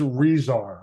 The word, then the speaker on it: Resar: Iowa quarterback verbal commitment rezar I got your name right yes ah wonderful I was hoping that I was hoping to stick the landing on that I'm sure it's one that gets butchered quite a bit doesn't it yeah you got it I'm surprised I